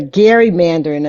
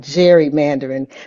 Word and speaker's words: gerrymandering: recent rulings on uh the Gary Manderin. And I was told that's the correct way to say it, not gerrymandering.